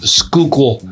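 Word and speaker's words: Schuylkill: you also wouldn't be too far from the skookul river along with the French Creek as well and yes it is pronounced skookul river which is great for fishing walking trails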